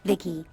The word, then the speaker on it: Vici: a repair person yep i'm vici pronounced vicky came out here to